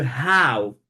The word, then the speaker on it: how: Ne prononcez pas l'expression comme how. Vous savez, en français, généralement, le H, il n'est pas prononcé. C'est une lettre muette en français. Mais en anglais, le mot, la lettre, elle est généralement prononcée.